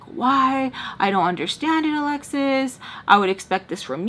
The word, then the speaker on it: Alexis: to say my name, they want to say Alyss. It's Alexis.